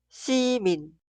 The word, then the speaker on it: 시민: Y en la sílaba posterior, min, min, min. Ciudadano, 시민, 시민, 시민.